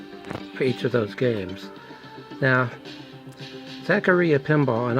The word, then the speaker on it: Zaccaria: of those games now Zachary a pinball and I'm going to pronounce it that way because that's her that's how some of their tables pronounce it it's an actual pinball